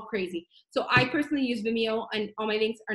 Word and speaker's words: Vimeo: what's the other video Vimeo Vimeo is how you say it I use a lot